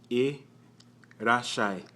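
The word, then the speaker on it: いらっしゃい: The little tsu is to prolong the S sound in the shi. Irashai, shai. Irashai, irashai. Without the tsu, it'd just be irashai.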